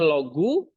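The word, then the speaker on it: λόγου: Kalau o U ini diftong kan U jadi bacanya logu genitif case-nya apa?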